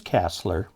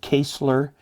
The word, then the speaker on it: Casler: their names being mispronounced mine is casler i've heard kessler kesler casler all kinds of things it is i guess um i don't know it's widely mispronounced if i had a